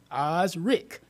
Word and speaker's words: Osric: Facebook and putting in Osric Cooley. It's spelled Oz, like the Wizard of Oz, and then Rick. Osric Cooley.